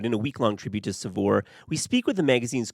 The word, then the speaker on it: Saveur: How do you pronounce it? Saveur.